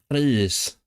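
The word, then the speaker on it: Rhys: I like to use the h sound for the RH. In proper like dictionary pronunciation, you'd say Reese, but I can't be asked to do that.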